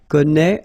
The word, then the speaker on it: connaît: If you look carefully here, connaît, AIS, and then connaît, AIT. So don't forget this circumflex, even if you don't pronounce it well, you should write it. Well, you pronounce these three forms the same way.